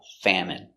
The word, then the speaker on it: famine: There is a famine in their country. Pronunciation, famine. Fam. Famine. Famine. Famine. Stress on the first syllable.